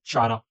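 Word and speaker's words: Chara: एक एल्गी है, green algae, जिसका नाम है चारा। चारा या कारा, इसको आपको जैसे प्रोनाउंस करना है आप करो, मैं तो चारा प्रोनाउंस करता हूँ।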